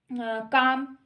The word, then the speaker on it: calm: उसके बाद बच्चों काम, काम, KALM, काम, तो इसमें हम एल को साइलेंट कर लेते हैं, ठीक है, उसमें हम किसको साइलेंट कर लेते हैं, एल को।